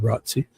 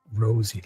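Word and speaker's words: Rozzi: Rossy. Mr. Rosy. Rosie. Ros. That's basically what he did there. He's probably saying it wrong. Rosy. No. Rosy. Rosie. Like a rose. Every rose has a thorn.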